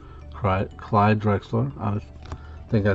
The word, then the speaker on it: Drexler: clyde drexler jam jam master sorry jms clyde draxler clyde drexler i think i said the name wrong a few minutes ago old school we